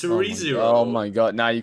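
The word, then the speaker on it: Re:Zero: correcting him when you you still pronounce it ray zero re-zero ray zero it's re-zero oh my god now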